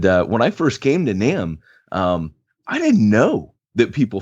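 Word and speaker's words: NAMB: when I came to NAM, and by the way, for our listeners, that's North American Mission Board, the B is silent. And when I first came to NAM, I didn't know that people funded church planners.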